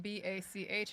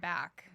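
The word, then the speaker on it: Bakk: a k k not b a c h and it's pronounced Bach not back did I say back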